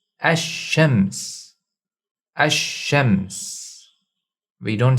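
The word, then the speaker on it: الشمس: shadda so we pronounce ashems ashems we don't say al-shems the lam is assimilated into the first letter when it comes to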